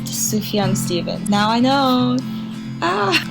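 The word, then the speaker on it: Sufjan: it's so beautiful i looked it up it's pronounced tsuhyun stephen now i know ah and also it's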